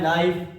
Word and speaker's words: knife: KNEE नी मतलब घुटना, KNIFE ये है नाइफ, सर क्या है नाइफ।